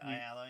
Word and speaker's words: Ayala: Ayala, yeah.